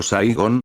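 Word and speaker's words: Siggon: 11 a menudo llamado siggón pronunciado saigon y los orcos lo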